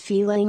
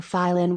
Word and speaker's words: Pailin: Due to their frequent traveling there, the hunters called that place Pailin or Stlov, taking the name after the otters they saw from the beginning.